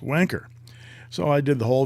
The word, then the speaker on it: Wancher: A lot of people says, no, it's not wanker. It's it's like rancher. It's wancher or wancher. But I've said that in my pen group a few times, and they've admonished me that no, it's pronounced wanker.